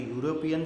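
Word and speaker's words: European: तो यूरोपियन शब्द जो है इसके उच्चारण को यदि हम देखें तो वो होगा यूरोपियन, ठीक है। इसके उच्चारण की शुरुआत जो हो रही है वो हिंदी वर्णमाला के व्यंजन से हो रही है।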